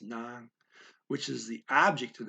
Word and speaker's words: ng: there is the non-phrase so ng but it's pronounced non which is the object of the sentence and